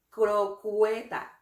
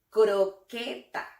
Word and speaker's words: croqueta: En esta palabra no se pronuncia la letra U. No es crocueta, es croqueta.